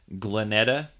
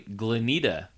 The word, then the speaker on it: Glenita: I addressed her as Glenetta Zeiderveld, and it's actually Glenita Zeiderveld.